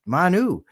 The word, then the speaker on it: Manu: It's Manu, like Manu Ginobili used to play professional basketball.